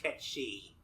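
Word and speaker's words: Cait Sith: Sith but not Ki I know it's pronounced K shei but but we don't give a I mean they call it k Sith and game I'm just going to go with that I know I'm just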